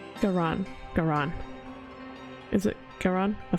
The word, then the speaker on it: Garan: Garan, not Gain.